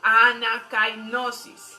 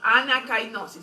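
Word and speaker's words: ἀνακαίνωσις: Repita conmigo: anakainosis. Se escribe así como anakainosis, con K. Anakainosis.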